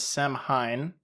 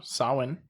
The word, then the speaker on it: Samhain: Halloween derives from Samhain, which is spelled exactly how it is definitely not pronounced. Not at all. No. It's the way you would read it as Samhain, Samhain, but this is a Celtic or Gaelic word.